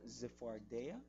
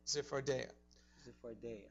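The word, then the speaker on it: צפרדע: Que en el hebreo se pronuncia Zephardea. Zephardea.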